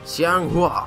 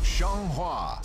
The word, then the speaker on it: Xianghua: Xianghua. Xianghua, I think is how that's pronounced.